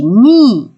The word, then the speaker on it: knee: This is knee, KNEE, নি, হাঁটু। কে এর উচ্চারণটা হবে না, এন থেকে হবে নি।